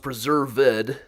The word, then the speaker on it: Preserved: actually preserved fish junior pronounced preserved with the emphasis on ed uh born in 1766